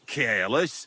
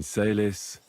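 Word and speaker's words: caelis: Pater Noster, qui is in careless, advent... Your turn now. You're saying it wrong. Listen. It goes like this. Pater Noster, qui es in celis, sanctificetur nomen tuum.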